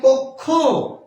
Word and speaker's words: কক্ষ: এই শব্দটির উচ্চারণ হচ্ছে কক্ষ।